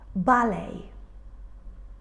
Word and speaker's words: ballet: And all these words have in common a silent T. We don't say things like listen or castle. We say listen, castle. So we write the T, but we don't pronounce it.